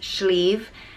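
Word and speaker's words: sliabh: it's an easy pronunciation just slavin sleven and it's spelled s-l-e-v-i-n it comes from the irish word for mountain which is sleeve s-l-i-a-b-h did i get that right and um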